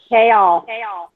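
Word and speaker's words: Chaol: because you're pronouncing his name wrong. Huh? I can't hear you. She said probably because you're saying his name wrong. How do you say it, Christy? Kale. I say kale.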